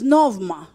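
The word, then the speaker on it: πνεῦμα: Of the spirit, number two, is novma, meaning a current of air or breath, a breeze.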